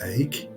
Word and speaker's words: Eyck: him the name of Van Eyck, which is pronounced Eyck and is Dutch for oak.